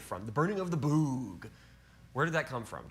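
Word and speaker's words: Böögg: So the burning of the boog, that is how it's pronounced.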